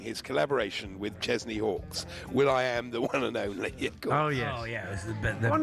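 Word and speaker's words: will.i.am: Will I Am the one and only one of people in the past they've said, "Hey, nice to meet you. Will I Am." And he said, "It's pronounced William."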